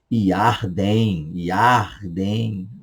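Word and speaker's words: ירדן: Yarden, fica à vontade, tá? Mas caso você queira pronunciar corretamente, Yarden, tá?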